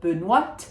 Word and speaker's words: Benoîte: So Benoîte, we do say the T at the end of Benoîte because there is an E. It makes it a feminine name as opposed to the masculine Benoît.